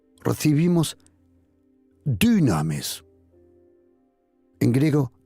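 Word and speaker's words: δύναμις: Recibimos dunamis. En griego, dunamis. Así se pronuncia, se escribe con Y, du. Porque el griego no tiene la U, se pronuncia la U, pero es una Y, dunamis.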